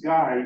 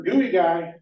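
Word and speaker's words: Geuy: During mail call, his last name was Guy, G-E-U-Y. They would call his name out. We got mail for Guy. And he would come up, but there was a guy, a person from Louisiana, G-A-E-Y, pronounced Guy. So they would butt heads. So the next time the mailman came by and gave him a different kind of name, he pronounced it phonetically. All right, I got mail for Gooey Guy.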